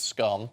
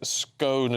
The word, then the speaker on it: scone: answer scone Eddie says scone is in stone um Martin says scone fastest cake in the world oh yeah oh very good yeah very very good Richard says it rhymes with moan uh and the world